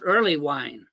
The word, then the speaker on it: Erlewine: start out with uh my name is pronounced early wine early wine uh oh thank you